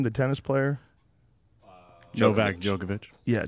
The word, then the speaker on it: Djokovic: you say the guy's name the tennis player Novak Djokovic yeah Djokovic I mean we talk about the healthiest human